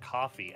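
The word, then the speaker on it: Ko-fi: focused on my uh Kofi or Kofi how do you how is it pronouncing I think it's I think it's supposed to be pronounced coffee actually like it's not some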